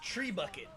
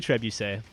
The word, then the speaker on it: trebuchet: Did you pronounce that as trebuchet? Yeah, it's trebuchet. Yeah. I thought it was tree bucket. Tree bucket. It's definitely trebuchet.